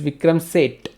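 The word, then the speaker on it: Vikram Seth: pronounce sait or saith say it so he pronounced it say it correct it's vikram set okay so vikram said very modern writer in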